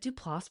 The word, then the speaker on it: Duplass: She's a frequent collaborator with the prolific Duplas Brothers. Is it Duplass Brothers?